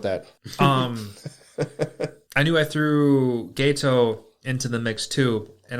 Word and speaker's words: Geto: But it's the way It they looks like Gito, but it's pronounced Gato. And that was my problem is because when I first watched this subbed, obviously you see Geto, so you're like, oh, it's Gato, because I didn't think it was ghetto.